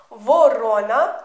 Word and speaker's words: ворона: мовочки ворона проворона овороненя звертаю вашу увагу ворона наголос ставимо на друге о проворонила наголос на третє О а вороненя як цуценя котиня ставимо наголос в кінці тепер вивчаємо ворона проворонила